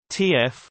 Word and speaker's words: TÜV: TUVs, German pronunciation, TF, short for German, Technischer Überwachungsverein, English, Technical Inspection Association, are German businesses that provide inspection and product certification services.